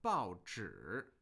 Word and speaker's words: 报纸: Okay, but in this particular word, we have a third tone with that syllable, 报纸, 报纸.